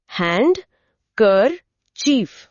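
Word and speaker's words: handkerchief: बीच में कर है और डी लिखा जाता है। भले ही बोलने में हल्का हो। हैंड कर चीफ।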